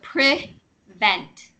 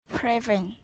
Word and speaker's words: prevent: So the first E is pronounced almost like an I. So prevent. Prevent.